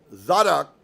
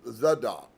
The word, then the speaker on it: Zadok: He corrected my pronunciation, putting the accent on the first syllable, Zadok, instead of Zadok.